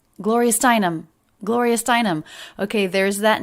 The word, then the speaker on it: Steinem: there's that name again and again we have a little bit of stress on the stress level of gloria but then more stress on the stressed syllable steinem gloria steinem there's